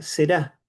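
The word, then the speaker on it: זרע: Eh, se pronuncia será.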